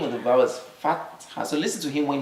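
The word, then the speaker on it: فتحة: Not fatha, but fatha. Fatha has a ha.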